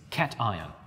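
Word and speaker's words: cation: is a cat IR please make sure that you pronounce this name correctly it's not C it's Caton you should always remember that the last bit should say iron the rest should work out just fine let's look at look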